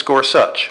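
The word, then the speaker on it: Gorsuch: eloquent words of Justice gor such by the way that's how you actually pronounce his name it's scors such they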